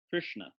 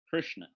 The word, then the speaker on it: Krishna: between all three so if we draw a triangle with one of the vertices of the triangle is kirchner and one is Krishna and one is crucian it's right in the middle Krishna so it's actually pretty simple if you don't overthink it you'll probably say it right Krishna you Krishna okay